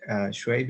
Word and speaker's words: Shuaib: Next, we can go with Suaib. I'm not sure if I pronounced it right, but, yes. Go ahead. You have been waiting for some time. You have to unmute yourself. Yes. Okay. My name is Shuaib.